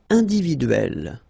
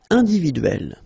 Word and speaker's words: individuelle: So remember when you get this E and then double consonant, and especially here it's the same one, that's the idea. It will open the sound of E, so you will pronounce it like é.